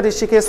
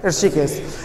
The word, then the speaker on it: ऋषिकेश: लेकिन क्या ऋषिकेश होता है? क्या नहीं? शुद्ध शब्द क्या है? ऋषिकेश।